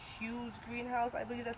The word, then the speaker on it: Hoens: They pronounce it huge and it's H O E N S. So for me I say Hoen's greenhouse but it's Hughes greenhouse.